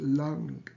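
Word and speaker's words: लं: die critical mark on the M but we pronounce it lung longing and this chakra has each of the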